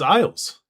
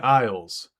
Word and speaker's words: Isles: The S in isles is silent.